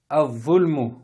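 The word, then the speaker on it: الظلم: Quatrième mot, al-zulmu. Donc alif lam, on ne prononce pas le lam, on va prononcer du alif, comme s'il y avait une fatha, directement la lettre dha.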